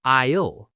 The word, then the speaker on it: aisle: Ojo con la pronunciación de aisle, pasillo, la S es muda, suena como aisle.